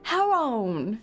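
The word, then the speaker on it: Charon: Well, he said the Greeks pronounce it haron.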